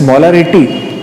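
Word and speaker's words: molarity: मोलैरिटी students, मोलैरिटी थोड़ा सा एक बात ध्यान दें, प्रोनाउंसिएशन में मोलैरिटी, मोलैरिटी, थोड़ा सा इसमें मैं इसको स्लोली पढ़ रहा हूं आपके लिए ताकि आप कहीं गलती ना कर दें, क्योंकि एक नेक्स्ट टर्म हमारे पास और भी है जो हम मोलैलिटी कहते हैं, इसलिए थोड़ा प्रोनाउंसिएशन में हमें प्रॉब्लम ना हो।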